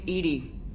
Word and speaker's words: EDI: Why are you named Edie? EDI is the phonetic pronunciation of EDI.